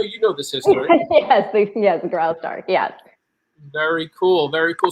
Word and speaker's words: Graustark: Is that how you pronounce that, Ron? I know you know this history. Yes, Graustark.